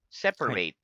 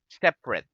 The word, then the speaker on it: separate: separate separate separate okay notice that it's the same spelling but different pronunciation okay the first one separate separate okay that's a verb separate separate okay next one is separate separate sorry separate separate very good so that's an adjective separate separate separate separate